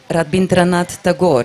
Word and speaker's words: Rabindranath Tagore: and one of my favorite authors it was rabindranath tagore a it's the right pronunciation and I still remember some of his